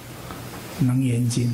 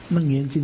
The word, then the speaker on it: 楞嚴經: 那当然，这个是在发音上哈，这个。念法不同，当然是以楞严经哈。以前我都念楞严经哈。